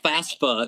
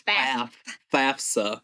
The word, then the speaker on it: FAFSA: Everybody, I hear people say FAFSA. No, it's FAFSA.